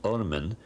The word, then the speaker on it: Ormen: They only wrote the consonants, and the word is RMN, to be pronounced Ormen, and it means literally the worm.